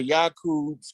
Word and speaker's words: Yakub: YAKUB is a Hebrew word. It's actually pronounced correctly in Hebrew as Yakub.